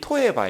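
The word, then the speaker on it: תועבה: 그 이것도 강조된 거예요 근데이 단어가 발음이 토에바 그래요 토에바 이게 우리 말 발음하고 비슷해요 저 미워하신다고 만간 토에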